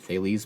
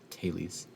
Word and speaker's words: Thales: is his fails or sometimes we pronounce it thales but i don't know why i think it's actually a taylee's uh theorem he's got